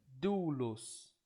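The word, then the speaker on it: δοῦλος: Como no caso aqui de doulos, né? Doulos. Aqui você tem o som forte claramente no do, então, e o los bem suave, né?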